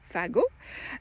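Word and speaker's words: fagot: bundles of sarmang fago so pronounce like a cigarette an o fago and these were bundles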